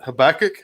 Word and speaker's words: Habakkuk: down here it's doing some worship stuff with Habakkuk is that how you say it yeah so